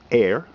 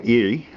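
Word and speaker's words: Éire: On the one side, the obverse, it has E-I-R-E, pronounced air, or Erie, which is Ireland.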